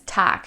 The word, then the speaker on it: Tag: Even though it ends with a G, we don't pronounce it as Tag, we pronounce it as Tag. So with a harsher K sound, Tag.